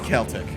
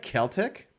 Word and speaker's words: Celtic: The word Celtic, I guess now, can be pronounced with either K or soft S.